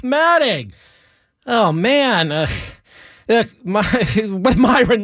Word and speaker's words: Alfombra: We're talking to not Myron Alfombra, pronounced Matting.